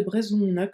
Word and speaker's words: brezhoneg: Le G de brezhoneg doit être prononcé G.